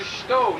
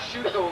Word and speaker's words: shuto: There's a technique that is the shito, not shuto like most Americans pronounce, but the U is relatively silent.